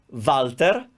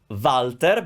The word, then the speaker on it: Walter: This one we pronounce Walter, Walter, but it is spelled with a double V, double W in Italian.